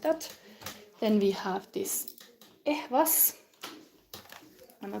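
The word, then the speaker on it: Ehwaz: Then we have this EAS. Am I pronouncing it correctly? Yeah, Ewas rune.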